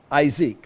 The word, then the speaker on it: Isaac: front of it and we pronounce it as isek see that Shack is